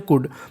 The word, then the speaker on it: could: एक हमारी है COULD, उसे पढ़ते हैं कुड।